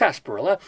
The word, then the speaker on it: sarsaparilla: me for this but sarsparilla which is pronounced s perla the dried roots of